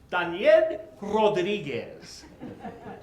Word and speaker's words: Daniel Rodriguez: Yes, my name is Daniel Rodriguez. In Spanish, it's pronounced ded Rodriguez.